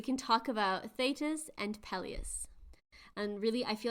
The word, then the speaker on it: Peleus: I'm glad you chose to go with Peleus and not Peleus. Yeah, the thing is with all of these different pronunciations, because the most recent one we've listened